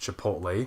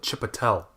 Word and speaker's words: Chipotle: we didn't realize it was supposed to be pronounced Chipotle yeah you know cuz like we just didn't know we know yeah performance is great yeah we called it this so weird we called it chip Attell that's funny even though that even though the